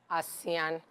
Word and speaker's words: Assian: um an IBU word is called a is pronounced asan so asan means um pH panash Elegance you